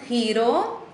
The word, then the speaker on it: giro: ist das selbe Wort dieses Giro es ist ausgesprochen Hiro und darum heißt auch